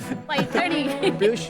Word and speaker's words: Paithani: स्लोनी, पैठनी, वो जरा प्रोनाउंसिएशन इनका चेक कर दीजिए. पैठनी। पैठनी।